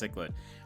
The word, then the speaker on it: cichlid: you fish see what you get a frasa cichlid that's what Dan said it's pronounced cichlid and you got a new record for it